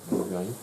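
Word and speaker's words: רבעי: Revaï. On dit Revaï, mais la prononciation, on va dire, la prononciation classique, c'est bien d'état Revaï.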